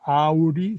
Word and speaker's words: Aury: el francés Louis Aury, se pronuncia Aury, se escribe Aury terminando en Y, para no crean mucho en mi pronunciación francesa, y esa división en